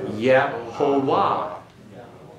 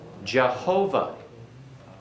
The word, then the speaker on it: Jehovah: Now, pronounce this. Yehovah. Jehovah. Jehovah. That's where the title or name Jehovah comes from.